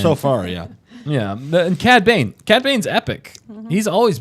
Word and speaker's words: Cad Bane: Candy Bane. Candy cane. Because there's Cad Bane or Cad close Bane.